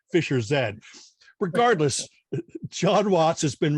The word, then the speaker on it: Fischer-Z: found out that the band's name was actually pronounced Fischer-Z.